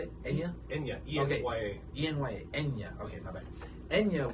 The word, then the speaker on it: Enya: Enya. How do you say it? Enya? Enya. E-N-Y-A. E-N-Y-A.